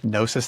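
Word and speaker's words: Gnosis: Um or it's underneath Nosis Therapy with a silent G, so it's G N O SIS therapy.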